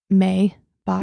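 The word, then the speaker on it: Maibock: Yeah, so it's so my Bach is like in German it's like May Bach.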